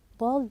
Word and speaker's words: bald: beginning we said bald bald notice we say pronouncing it as o sound however it is written as a ascus was a bald